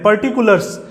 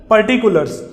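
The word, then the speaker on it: particulars: For example इसका मतलब समझते हैं, पर्टिकुलर्स, याद रखिए मेरे प्रोनाउंसिएशन को, इट्स नॉट पर्टिकुलर, इट्स पर्टिकुलर्स।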